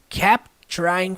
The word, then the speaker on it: kept trying: Kept, no passado, termina com T e a próxima palavra começa com T, ou seja, na hora da pronúncia vai juntar e formar uma coisa só.